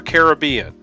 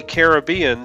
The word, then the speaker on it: Caribbean: common factor consider Caribbean even in the Caribbean some people say the name with the stress on the first syllable and some with the stress second we do know that the version with the stress on the first syllable is the older one the second syllable stress version likely gains traction from the BB in the spelling but that pronunciation has